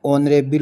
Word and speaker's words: honourable: जो इसका उच्चारण है वो एच से न होकर के एच साइलेंट है, ओ से इसका उच्चारण ऑनरेबल होता है।